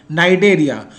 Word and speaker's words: Cnidaria: The next is phylum Coelenterata or Cnidaria. C is silent here. Cnidaria.